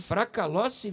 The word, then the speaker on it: Fracalossi: Gente, estou falando nada mais, nada menos com a doutora Fracalossi, é isso? Isso mesmo. Fracalossi, ó, fiz a pronúncia certa.